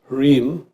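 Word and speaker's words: ह्रीं: Second mantra here is Hrim, which we can spell phonetically H-R-E-E-M.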